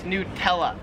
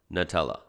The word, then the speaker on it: Nutella: says nutella that's weird i would pronounce this nutella like it's new nutella here in australia they pronounce it nutella like a nut that's crazy nutella not nutella number six is the